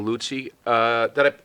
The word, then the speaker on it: Luzzi: a little bit we're going to have lutzy did i pronounce it correctly perfect perfect perfect though uh